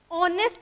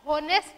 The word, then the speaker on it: honest: अब देखो ऑनेस्ट पढ़ा हमने, इसको हॉनेस्ट नहीं पढ़ेगा, क्योंकि आपके प्रोनाउंसिएशन पे डिपेंड करता है।